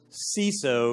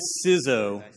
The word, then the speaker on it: CISO: our minds right now the correct pronunciation is it C so raise your hand C so there's a couple hands bow you're wrong or is it suzhou that's right good because that's how